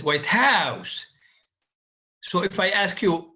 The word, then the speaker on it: White House: it can be but when we say White House we stress the first part and this is an actual compound and it means the house of the UN the president of the United States of America in a non-compounded phrase the second word is stress as I said white house so if I ask